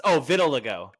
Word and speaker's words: vitiligo: It's vitiligo.